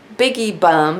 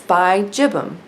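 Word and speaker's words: bigibbum: Orchid Society told me it is not biggie bum, it's bi-gibbum because it's named referencing the bi-gibbous moon, the gibbous moon, okay? So if it's named for that and there's already a pronunciation of gibbous, which I looked up, gibbous, then that's legit.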